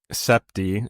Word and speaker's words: Sibte: But it's s i as in like when you sip something.